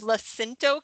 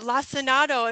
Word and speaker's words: lacinato: talking about the kale, and I always said it as Lacinto kale, which is not even how it's spelled, but I don't know, in my head I always called it Lacinto kale, and she's calling it lacinato, and so we looked